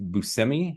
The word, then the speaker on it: Buscemi: And if you remember me talking about Miracle Workers, it's got Daniel Radcliffe, Steve Buscemi is how you pronounce it, correct, Craig?